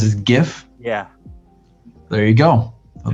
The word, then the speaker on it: GIF: just say just i the english would traditionally make that a hard g sound before the eye